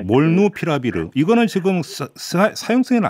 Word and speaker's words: 몰누피라비르: 머크사의 몰누피라비르 발음이 네, 몰누피라비르.